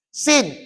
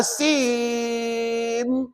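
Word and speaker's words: سين: bibir buka pasal apa ejaan Sin Sin ya Nun hurufnya di hujung adalah Nun maka Tuan Puan tak boleh S tak boleh kalau SIM salah dia kena Sin sebut berapa harakat J enam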